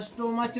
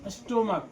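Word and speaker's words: stomach: इसको स्टोमच नहीं पढ़ेंगे। क्या पढ़ेंगे? स्टोमक।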